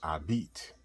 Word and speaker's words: habite: But in French, like the word for live, habite, you don't pronounce the H, you say habite, you know.